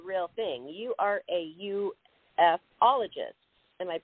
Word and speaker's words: ufologist: You are a ufologist. Am I pronouncing that correctly? That's right. Again, some people pronounce it that way, and some people call it ufologist, however you like to say it.